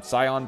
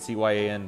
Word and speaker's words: cyan: got uh this uh this uh Scion blue I think that's how you say it cyan that's what I'm thinking